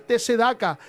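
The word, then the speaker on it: צדקה: 9:7 en la palabra t sedaka con acento en la al final t sedaka y significa justicia justo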